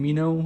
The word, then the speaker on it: Meno: I also made a video on Mino or Meno, how you want to pronounce it, as it is included in this book, but it takes way it takes place way before his trial.